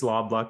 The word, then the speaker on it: Loblaw: VP of one of Canada's largest retail organizations, Loblaw. Have I pronounced that one correctly? Yeah, it's Loblaw Companies Limited.